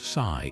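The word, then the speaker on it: 四: Over time, this belief spread to other East Asian cultures, including Japan, where the number four pronounced she also echoes the word for death.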